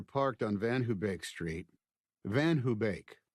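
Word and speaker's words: VanHoebeek: The first time Mave and I ever parked on Van Hubake Street, Van Hubake, mispronounced as Van Hobic by everyone in Elkins Park, was the first time I'd come home from Chot for spring break.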